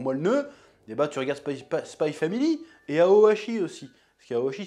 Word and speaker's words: Spy x Family: Je dis Spy Family maintenant, parce qu'apparemment on ne prononce pas le X. Voilà, j'ai cédé à la pression. En plus, ça sonne mieux, Spy Family, finalement.